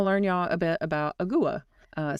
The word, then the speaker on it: agua: Uh, some might pronounce it more like awa. I think that's how I said it, which is the Spanish word for water, right? Um, it's awa.